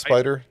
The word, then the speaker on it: SPDR: spdr oh but I is it pronounced spider probably probably so um this is the